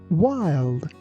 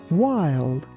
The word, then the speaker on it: wild: Just be careful that letter W is not pronounced like V.